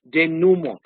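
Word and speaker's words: dénouement: day yeah Day Day D num Duma okay Den Numa what is Dena Dena is a climax anduma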